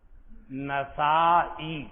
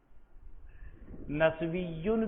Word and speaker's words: نسائی: نسا، نسا، نسا، نسا، اس کا تلفظ بھی دو طریقے سے ہے، نسائی، نسائی، نسویٌ بھی ہے مگر وہ محدثین کی زبان پر نہیں ہے۔ نسائی، نسائی، خراسان میں ایک بستی کا نام ہے نسا.